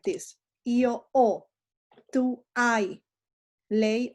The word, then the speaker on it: ho: Io ho, tu hai, lei o lui ha, noi abbiamo, voi avete, e loro hanno. Spelling is important even if the H is silent, because if you don't